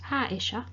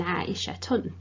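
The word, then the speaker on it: عائشة: You will have undoubtedly noticed when I said Aisha, it has a bit of a ha sound rather than Aishatun.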